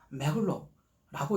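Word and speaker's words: Merlot: 쇼비뇽이라고 천천히 읽으면 되고 메로는 비교적 간단해서 매로라고 읽으면 됩니다 알 발음을 흐라고 발음합니다 전문가가 아니니까 그냥 비슷하게 하면 됩니다 참고로 영어 발음은 까베르네 쇼빈은 카베네 쇼빈이라고 하면 되고 메로는 멀로이라고 하면 됩니다 어려울 필요 없습니다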